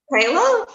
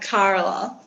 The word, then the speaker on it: Kayla: So, is it pronounced Kayla or is it like Carla? No, Kayla.